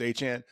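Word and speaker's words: Achane: Is it A-Chain or A-Chan or the running back? I say it wrong every time too. Right? I think it's A-Chan. It's A-Chan. That man is a really, really good running back.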